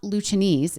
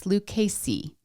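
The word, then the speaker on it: Lucchese: It's not Luchese, it's Lucasey.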